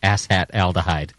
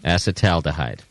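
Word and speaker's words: acetaldehyde: should be assat alide assat alahh yes okay no you're throwing in an extra ow in there ow is not an ass hat acetal dhide yes okay oh wow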